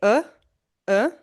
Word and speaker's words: of: preposition of of of you don't say of like you don't pronounce the a vowel fully but instead you got to just say uh uh so you just cut the vv sound or you say of of but not of you say uh or